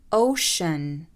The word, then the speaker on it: ocean: Ocean, ocean.